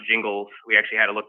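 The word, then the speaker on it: Gingles: dilution uh and by the way it is pronounced jingles we actually had to look this up because i didn't know if it was jingles or jingles but it's jingles um the quote here i think is important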